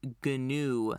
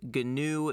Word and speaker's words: GNU: stuff what what does ganu stand for and ganu is spelled gnu for those that uh didn't know uh how it's spelled gnu so what does that